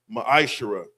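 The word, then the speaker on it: מעשר: verses 8 through 10, means 10th in the Hebrew is pronounced ma'ashara.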